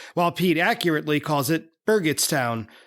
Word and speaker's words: Burgettstown: of the town as Burgett toown while Pete accurately calls it Berget toown with a hard G I've been pronouncing it